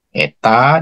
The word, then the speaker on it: eta: ya dibagi dengan 8 n itu Eta bacanya Eta Dik l di* p